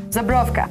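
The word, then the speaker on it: Żubrówka: Can you pronounce the vodka again? Zabrowka.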